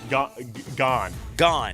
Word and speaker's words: Gane: How do you say his name? Gagne? Gone. So Gane.